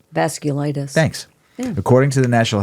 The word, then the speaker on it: vasculitis: clus vas vasus vas glus I think it's pronounced v s c u l i t i s vasculitis thanks according to the National Health Council around